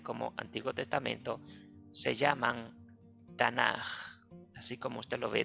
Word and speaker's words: Tanaj: mayúscula y una jota esa j se cambia originalmente por una k pero se escribe o se pronuncia de esta manera tanaj dando a entender que